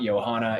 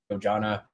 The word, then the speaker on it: Yojana: It's not Johanna, it's Yojana. It's a Hindi word, not some kind of Spanish word.